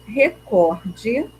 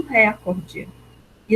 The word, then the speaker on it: recorde: lá vamos ler a manchete a mulher bate recorde nos Estados Unidos de permanência no espaço um